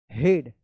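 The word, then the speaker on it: head: हेड। क्योंकि इ ए का इ उच्चारण होता है। लेकिन यहां पे इ ए का ए उच्चारण हो रहा है।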